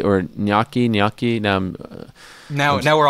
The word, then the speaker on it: gnocchi: it's no nookie yeah I don't think the G is a part of it no I don't say